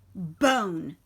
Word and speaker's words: bone: And we know it's a silent E because this makes the O say its name.